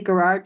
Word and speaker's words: Gerard: Gerard with a hard G.